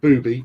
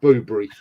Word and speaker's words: Boobry: One of our space docks is Boobry, and it does have an R in it, so not booby but Boobry.